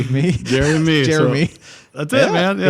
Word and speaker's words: Jerremy: First name is spelled with 2 R's. My dad's name was Jerry. So Jerry and me. Jeremy. That's how that happened.